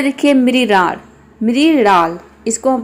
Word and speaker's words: मृणाल: मृणाल इसको हम प्रोनाउंस करेंगे मृणाल।